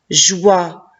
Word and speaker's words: joie: lettre j jay howard joie et la lettre e à la fin je ne prononce pas passons à la lecture